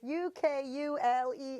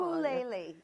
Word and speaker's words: ukulele: And ukulele is Ukulele. Yes. I keep spelling it wrong. Ukulele. Like if you were in Hawaii and you said it, it would be like ukulele.